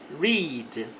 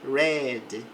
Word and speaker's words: read: No presente a pronúncia é read, no passado fala read para a mesma palavra.